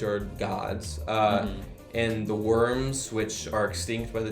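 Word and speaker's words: wyrm: uh great beings called worms and the um and it's it's it's l it's a worm like the thing you're thinking of but it's spelled w y RM yeah so um I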